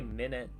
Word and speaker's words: MINIT: And so you're supposed to be able to like beat the entire game within a minute. Oh, 12 minutes or 12? Oh, It's just called Minute. But it's spelled Minute.